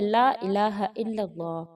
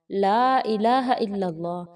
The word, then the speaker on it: لا الہ الا اللہ: لا الہ الا اللہ۔ اس کے تلفظ کو بہترین طریقے سے ادا کیجیے۔ لا الہ الا اللہ بھی نہیں کہنا، لا الہ الا اللہ کہنا ہے۔ لا کو تھوڑا لمبا کیجیے، کیونکہ اگر لا کو لمبا نہیں کیا جاتا تو